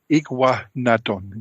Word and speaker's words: Iguanodon: The one I cannot pronounce, of course. That's okay. Iguanodon.